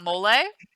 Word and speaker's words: mole: __ ] good i imagine you're talking about molay oh i don't know i typed in most